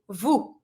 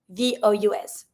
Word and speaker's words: vous: That you is going to be vous, V-O-U-S, vous. You don't pronounce the S, you just say vous.